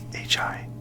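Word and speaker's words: ひ: these eventually so this right here is he hi this right here is RA and you're going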